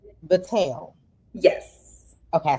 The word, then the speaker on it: Vitelle: It's Vitelle.